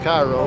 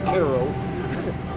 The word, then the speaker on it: Cairo: are named after Egypt which would be Koo which it's not pronounced Cairo ask anybody it's Koo early of course early